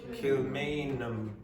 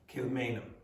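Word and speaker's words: Kilmainham: So in this you don't pronounce the H. Okay. Kilmanum. Okay. This a a is pronounced like awah. Kilmanum.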